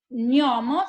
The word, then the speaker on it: gnomo: Que empiece con GN, por ejemplo, con GN, que es GN, gnomo, ¿se acuerdan que tenía la pronunciación, se pronunciaba como una ñ, ¿ok?